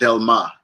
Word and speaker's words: Delmas: So there's a neighborhood in Haiti called Delma, and each one of them are, if you would say the English is Delmas, it's spelled Delmas, right?